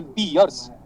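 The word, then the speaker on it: Pierce: है, तो वो है पियर्स। पियर्स साबुन जैसा ही प्रोनाउंसिएशन उसका, पियर्स साबुन की तरह।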